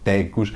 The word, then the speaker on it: Thecus: Esta foi uma das dificuldades que eu tive em pronunciar o nome da Ticus, como se diz aqui em português, Tecus.